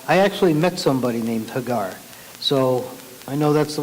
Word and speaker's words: Hagar: many times people say Hagar which doesn't really matter but in Hebrew usually the emphasis is on the last syllable so if you're gonna